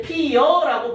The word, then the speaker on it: 피어: 그런데 어떤 경우는 이렇게 피여라고 발음하는 경우도 있어요. 피여. 이건 표준 발음은 인정됩니다. 알겠습니까? 피여라고 표준 발음 인정돼요.